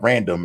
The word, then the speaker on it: RNDM: And lastly, I would say 2015's record for me, Random, it's spelled RNDM, is probably the record